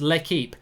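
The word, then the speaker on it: L'Équipe: And Andrew Bruce says, Mark, please, it's pronounced L'Equipe. Mate, I've just told you I'm crap at French. I didn't get GCSE, so you obviously did get an A in GCSE French, and you call it L'Equipe.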